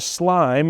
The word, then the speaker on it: SLME: So if we came, for instance, in subcontractors, the first of our slime that's here. By the way, the I doesn't mean anything. It just helps us pronounce the word.